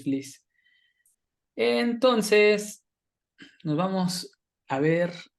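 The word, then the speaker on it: Fliess: cómo se pronuncia y según esto se pronuncia Fliss. Es algo Ujú. que ahí la fuente no sea Tan correcta, confiable. ajá, pero ahí encontré que se pronuncia Fliss, porque yo decía Flies, ¿no? Y de repente ya vi que es Fliss.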